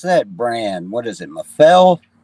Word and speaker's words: Mafell: Am I pronouncing that right? I don't know. Mafell. They make a track. He was asking me about it last week, and I've never heard of it. Mafell's you're pronouncing it right.